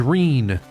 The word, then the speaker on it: Rene: My name's Rene. Rhymes with clean, but I feel more like cleaning some clocks right now.